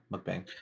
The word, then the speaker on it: mukbang: Is that how you pronounce it? Yeah, mukbang.